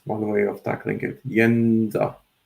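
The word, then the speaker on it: Jędza: So not Jedza, but Jedza. Yenza, just to make it easier. Just think of the name Yennefer from Witcher universe. Use the first syllable.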